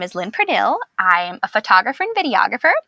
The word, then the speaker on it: Pernille: I get Pernille a lot, which is fine. I don't get offended. It's, it's a Danish foreign name, so there's technically not a correct way to pronounce it in English. So, but I prefer Pernille.